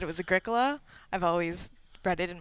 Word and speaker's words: Agricola: 'Cause- It's like Ricola.